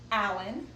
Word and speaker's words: allicin: One is allicin, like the name Allen, but it's spelled differently. I'll put that on the video.